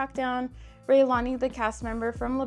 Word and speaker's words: Raelani: and if you don't know, her name is spelled Raelani. So most people don't know or even know how to pronounce it, so it is Raelani.